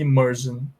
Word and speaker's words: immersion: Então, elas são pronunciadas, esse final aí, S-I-O-N, é pronunciado com som de jan, tá bom? A gente fala version e immersion, ok, guys?